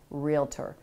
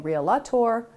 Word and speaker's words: REALTOR: to think about that it is a two-syllable word realtor and if you hear someone saying real latour please in a gentle